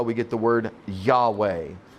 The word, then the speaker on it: Yahweh: It's also Jehovah, depending on how you pronounce your Y's and your J's. So Jehovah, Yahweh, same word.